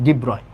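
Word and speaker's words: de Broglie: তারপরে ডিব্রয়, ওকে, এটার অ্যাকচুয়াল উচ্চারণ হচ্ছে ডিব্রয়।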